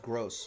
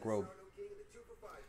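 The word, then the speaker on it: Groß: of bee and so it's pronounced gross even though it looks like grove mason greenwood for man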